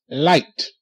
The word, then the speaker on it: light: a knight okay good light l a li light okay GH is silent GH makes no sound if you look up